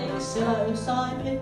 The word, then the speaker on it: psilocybin: It's a mixture of magic and chemistry, psilocybin with a silent P, psilocybin mexicana, or what is known as magic mushrooms.